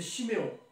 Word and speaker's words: Chiméon: Siméon ou Siméon, c'est la même chose. Mais en hébreu, c'est Chiméon. Et en français, on dit Siméon. On ne prononce pas le H.